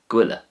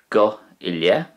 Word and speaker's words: gabh i leith: In Connacht, slightly different, you would say go ilye, go ilye. But that's very often shortened down to gwille. So if you say go ille really fast, you'll end up with gwille.